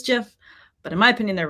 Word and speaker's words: GIF: It is pronounced GIF, and that's because it's an acronym. And the first word in that acronym is graphics, which you say G. So I say GIF.